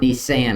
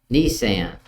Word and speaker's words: Nisan: Not the one you drive around. Nisan, I guess is how you say it.